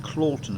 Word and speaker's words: Cloughton: It may be pronounced Clawton, of course, but I think it's Cloughton, because there is a a moor up over there called Cluffer.